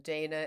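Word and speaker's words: Dhejne: karolinska Institute in Sweden and Dana is spelled d-h-e-i-n-e um I'm going to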